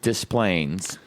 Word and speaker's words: Des Plaines: Well, I was in Was I in Desplaines or Day Plains? Um I found out that it is pronounced Desplaines.